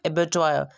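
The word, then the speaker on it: abattoir: पहला है एबेटॉयर, इसका करेक्ट प्रोनाउंसिएशन है एबेटॉयर।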